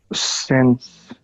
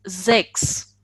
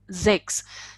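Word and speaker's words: sechs: Sense. Okay, so as I told you, S is pronounced as Z, and Okay.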